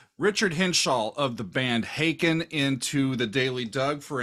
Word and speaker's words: Haken: always been told it's it's like bacon if you know bacon then you know haken and and you all